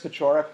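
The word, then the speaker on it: Paciorek: my name is petrak the i is pronounced as if it were an h here this is a polish uh name of polish origin uh please do just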